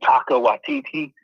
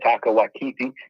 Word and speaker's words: Taika Waititi: So, I'll pretty much watch anything and Taika Waititi. I think that's how you say it, Taika Waititi.